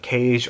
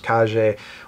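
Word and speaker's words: Kage: plays more like the legend of cage or believe the proper pronunciation is KJ where you're running through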